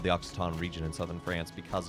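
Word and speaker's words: Occitan: Not not not oxy o it it comes from so the language itself is called oxaton. It's spelled occ.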